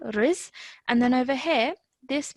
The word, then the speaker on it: رزقه: Now over here, so if I just pause you over there, this is riz, okay, because the ra has a kasra, so we produce a kasra sound, riz.